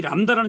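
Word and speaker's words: λάμβδα: 그런데 얘 친구가 이렇게 이 람다가 중간에 올 때가 있어요. 모음, 모음 사이에 들어올 때가 있어요. 이 람다가. 그럴 때는 발음을 리을, 리을 발음을 두 번 해주라 이 말이에요. 그러니까 우리가 지금 요 람다를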